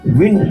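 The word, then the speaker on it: weaned: versi terjemahan diape windn Win bacanya gimana ini s w e a n e d Win ya bacanya begitu saya baru tahu juga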